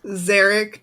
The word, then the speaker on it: Zeric: If we meet Zerich Dark Harbor, who's the great great There's a 1,000year line of Dark Harvers that rhyme with Eric. Zeric.